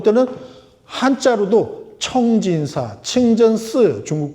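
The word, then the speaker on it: 清真寺: 이슬람 사원인지 모르는 사람들 볼 때는 한자로도 청진사, 칭전스, 중국 발음, 청진사, 풀을 청자, 참진자, 절사자 딱 쓰니까 여기가 불교 사찰이구나, 절이구나 하고 딱 들어가서 보면 부처님은 안 보여.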